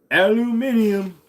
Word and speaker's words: aluminium: Virginia what about it aluminium that's the way it's pronounced when you don't live in the United States of America where we measure things